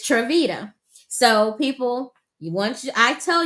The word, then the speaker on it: Triveda: to pronounce it and the analogy is when I say it's cheesy I really mean it and that is Vita like the cheese t t so it's it's trevita so people once I